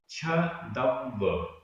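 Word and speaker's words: छद्दव्व: लेकिन यहाँ पर छदव्व, छदव्व, छदव्व ऐसा हो रहा है, मतलब आधा द पूरा द। ये तो संयुक्त अक्षर है, लेकिन व को संयुक्त अक्षर नहीं लिखा हुआ है। छदव्व ऐसा इसका उच्चारण होगा।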